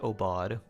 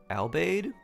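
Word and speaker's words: Aubade: It's a u a u b- a d e. Yeah, pronounced oad. I always thought it was albade. Apparently, it's oad. Hardino this early seems rough, but Noel, as you wish.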